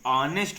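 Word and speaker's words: honest: एन ऑनेस्ट एन ऑनेस्ट ओ एच ओ एन एस टी O silent हो जाता है तो ऑनेस्ट हो जाता है अस आता है अस इसलिए एन का यूज यूज़ किया जाता है।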